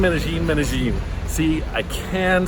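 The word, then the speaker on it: Medellín: Medellin, Medellin, Medellin.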